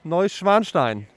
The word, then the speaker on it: Neuschwanstein: Here's another build you might be able to help us pronounce. Yep. I'm like, dude, this is Schloss Neuschwanstein, the south of Germany.